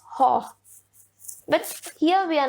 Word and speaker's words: Gogh: Now, he was a Dutch person, so Americans pronounce it differently. British pronounce it differently. It's like Vincent Van Gogh or Vincent Van Gogh, but as per the Dutch language, it is Gogh.